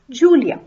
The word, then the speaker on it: Julia: I say I am Julia so that we translate in German ich bin Julia while J is pronounced as Y in German language that is why it is ich bin julia here ich is the